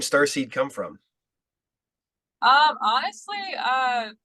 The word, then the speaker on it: StarSe3d: a band name and the the uh it's star seed and it's uh is is it in the the se3d yeah so just pronounced as starc but it is spelled with